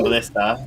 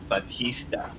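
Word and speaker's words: Bautista: John Ballista, I think I actually said this last name wrong. Um, is really, buddy, you were being Batista. Yeah, Batista.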